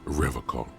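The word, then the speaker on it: Revachol: He pronounces Revol with a hard K, unlike other people.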